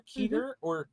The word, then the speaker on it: Keter: a it's a k e e t r keter when you go to the scp website they like to have the pronunciation of certain words and that's how that's